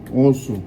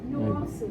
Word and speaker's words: Nwosu: Nwosu. Nwosu? Nwosu. The N, the W, and the O is one word. Nwosu.